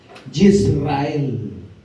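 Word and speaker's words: ישראל: nombre será llamado, y se lo voy a pronunciar en hebreo, Yisrael.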